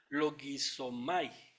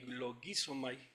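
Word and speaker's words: λογίζομαι: Entonces, esa palabra, consideraos, que es la que voy a enfocar aquí un poquito, viene del griego logizomai, con acento en la I, logizomai, no sé si pronuncia así, pero bueno.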